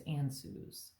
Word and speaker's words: Ansuz: I was always taught that it was Ansuz, which kind of like it sounds, answer. I think our word answer comes from that. Ansuz is divine communication.